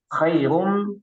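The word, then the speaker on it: خير: Khairum, kha-nya juga harus ini lebih jelas ya, bukan ha, bukan ho, tapi kha.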